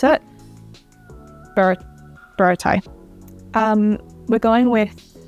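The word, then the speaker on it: Baratie: Okay, then we've got Baratai. This one always gets me. I used to call it Barati, which is obviously not how you pronounce it. Baratai.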